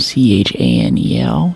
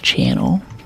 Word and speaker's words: Chanel: That's very classic Coco and C H A N E L channel, but it's pronounced Chanel.